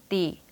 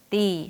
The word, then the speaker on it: D: 하고 소리 내야 하는데요 마찬가지로 띠 하고 짧게 끊지 마시고요 약간 길게 빼면서 d 하고 소리 내세요 그럼 영어식 강세와 리듬을